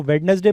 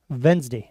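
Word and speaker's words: Wednesday: ठीक है, इसको वेडनेसडे प्रोनाउंस नहीं करते हैं। ठीक है, हम लोगों की कुछ की आदत होती है, मैं भी जनरली पहले वेडनेसडे ही बोलता था, बट इसको इंग्लिश में बोला जाता है वेंसडे।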